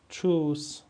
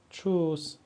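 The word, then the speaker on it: tschüss: داریم در زبان آلمانی واژه چوس واژه چوس یعنی خداحافظ اینجا هم ما ترکیب ت اس سه ها رو داریم و چه تلفظش می‌کنیم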